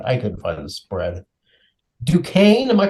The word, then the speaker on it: Duquesne: Duquesne, am I pronouncing that right, Tibbs? Duquesne.